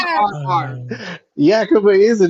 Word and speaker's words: Yakima: town that he's from, it's called Yakima, not Yamaka, not Yakimiya. It's Yakima. You can pronounce that, but not Bayheim. Names are different, bro. Names are hard, okay? Names are hard. Yakima is a name.